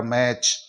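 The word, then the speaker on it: match: टी सीच आ रहा है तो टी को साइलेंट रखते हुए ए सच की ध्वनि निकालेंगे तो यह हो गया मैच इसी तरह सी एटी सीच यहां भी टी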